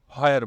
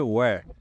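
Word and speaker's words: where: আমরা ধরেন কথার কথা একটা উদাহরণ দিয়ে আমরা হয়ার বলি, হোয়াট বলি, আসলে এটা হওয়া উচ্চারণ কখনোই হয় না। এটা হলো ওয়াট, তারপর হচ্ছে ওয়্যার।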